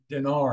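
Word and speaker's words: Diner: I think her last name is D-I-N-E-R, Dinar, I think is how she pronounces it.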